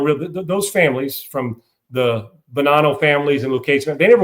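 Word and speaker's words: Bonanno: That's Banano I guess is how it's pronounced.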